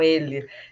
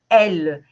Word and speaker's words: elle: Mas as pessoas acham que é ele, E. Não, elle. Então, é o feminino. O masculino é il. Então, então elle, en français, né?